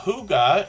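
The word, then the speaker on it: hygge: we're going to look at Huga Homestead uh Huga is how we pronounce this word h y g g it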